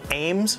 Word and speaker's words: AEMS: hollow sun Ames I don't know if hollow sun intended the aims to be pronounced like Ames but just like the styrog we're gonna call it that anyway this aims is